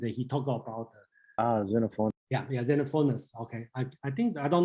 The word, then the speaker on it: Xenophanes: Yeah, I think the person is Xenophanes. Okay, he criticized Homer's, and he talked about Xenophon. Yeah, Xenophanes.